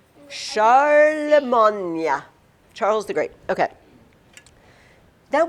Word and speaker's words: Charlemagne: Although we don't usually say his name in English and therefore it doesn't we don't say the great. We say it in a French sounding word. Charlemagne.